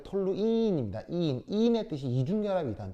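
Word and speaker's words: toluene: 톨루엔이 아니고 톨루인입니다.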